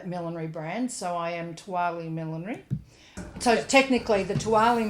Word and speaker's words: TOOALI: So I came up with a brand name them that was T O A L I which is pronounced Tali and is an acronym for the only one around like it.